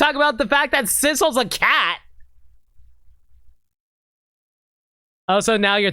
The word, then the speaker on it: Sissel: about the fact that Sissel's a cat. Also, now you're thinking about how Missile rhymes with Sissel?